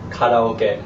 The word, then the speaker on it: karaoke: So karaoke, properly pronounced, is karaoke.